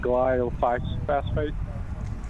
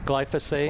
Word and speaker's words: glyphosate: Well, it's 43% uh how do you pronounce it? Glyph phosphate. Glyphosate.